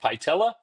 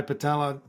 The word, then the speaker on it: Patella: Is it Pella? Pella. I usually try Patella. Just Oh, like Patella. Like the kneecap. Like the kneecap in Latin.